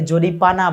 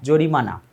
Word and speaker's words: জরিমানা: অনেকে জরিপানা বলে, প না ম, জরিমানা।